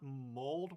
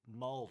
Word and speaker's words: mulled: uh Jonathan Hart uh it's not mold wine m o it's uh m u l l e d mold wine I know I I'm